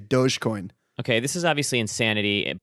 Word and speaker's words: Dogecoin: can i can i i'm going to call it dog coin because that's i think what it is instead of dogecoin i'm still doge i'm i'm a soft soft g dogecoin okay this is obviously